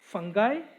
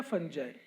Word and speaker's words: fungi: का काम करते हैं फंगाई, फंगी या फंजाई। ओके, सो प्रोनाउंसिएशन में differ but the organisms are the same.